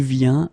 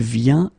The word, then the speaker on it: vient: Okay, and phonetically it's it's the same form. So you get je viens, okay, tu viens, il vient, elle vient.